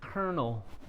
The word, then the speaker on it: colonel: right way sorry sorry so this word is Kernel colel yeah and it sounds like a popcorn kernel right this is like a